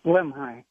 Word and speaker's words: Lemhi: Is it Lemhi or? Yeah, Lemhi. Lemhi, just exactly like how it's spelled.